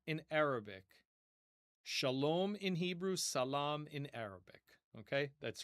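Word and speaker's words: سلام: But notice how in Hebrew, the first S becomes a sh. So S in Arabic, sh in Hebrew, and the long a vowel in Arabic becomes a long o vowel in Hebrew. So it's essentially the same word just with a different pronunciation to fit their respective languages.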